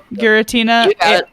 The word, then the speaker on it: Giratina: Is that how you pronounce it? Giratina as the bringing of the mic closer.